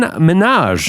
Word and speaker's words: Minhaj: Show senior correspondent Hassan Minaj. Yeah, he's coming up later. Uh, it's pronounced like Nicki Minaj.